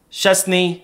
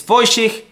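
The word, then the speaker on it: Szczęsny: possible but it's voen I thought it was shes but apparently it's fiken I hope I said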